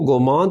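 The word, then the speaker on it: Gomant: बादल लिए मैं इसको गोमांत करती हूं फ्रेंच में टी लिखने हैं पर बोलते नहीं तो गोमांत लिखती थी जिसे बोलने में गोमा कहते हैं यह बहुत अच्छा लगता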